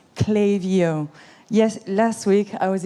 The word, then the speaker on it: Klaviyo: from Ukraine Sweden Netherland France UK and it's pronounced clayo yes last week I was in France at